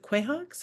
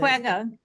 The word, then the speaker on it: quagga: But these are, is it quahawks? I can't pronounce it. Quagga. Quagga, okay.